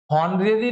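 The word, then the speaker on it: honorary: ऑनरेरी लिखा है जिसमें एफ साइलेंट है। तो क्या बोलेंगे? ऑनरेरी एन ऑनरी member.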